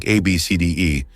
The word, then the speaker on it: ABCDE: Some parents are getting creative with their children's names, choosing unconventional ones like ABCDE, pronounced Abcd.